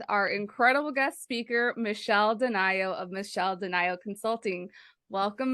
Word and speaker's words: DeNio: capacity is with our incredible guest speaker Michelle Denio of Michelle denial Consulting welcome Michelle and thanks